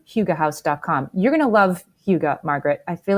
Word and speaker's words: hygge: That would be very hygge. So hygge, I didn't know how to pronounce it until I looked it up for you guys.